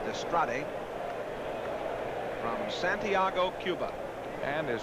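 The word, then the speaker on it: Dastrade: Pena in the spring calls his last name d-a-s-t-r-a-d-e pronounce destrate from Santiago Cuba and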